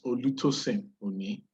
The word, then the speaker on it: Olutosin Oni: I'll pronounce it with as it's said in my language. It's Olutosin Oni.